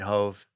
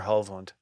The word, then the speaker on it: Hovland: And Hov, I mean Hove. Victor Hovland. Hovland. Okay. It's confusing because I have to call him Hove, but it's Hovland. That's how they all pronounce it.